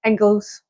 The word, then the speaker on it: Inglis: So how do you say it? It's Inglis. Like Pringles.